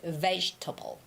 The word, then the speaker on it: vegetable: But, it's not table. There's no stress in that word ta, okay? So, you have to say vegetable. Vegetable.